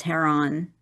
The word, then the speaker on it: Heron: they're writing, the Heron. Am I saying that name right? I don't know if there is a correct name for it's like it's like the bird.